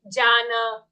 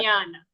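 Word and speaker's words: ज्ञान: But we should be careful that we do not pronounce it incorrectly and say Jana or Janana or anything like that. We have to say Right. Yeah. Jnana.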